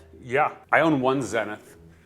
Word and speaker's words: Zenith: I own one Zenith, which I would have said Zenith before. Never. That's the That's the right English way to pronounce it, but in the industry, we I mean, the